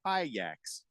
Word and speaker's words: Ajax: He says also Ajax in European football is pronounced Ajax.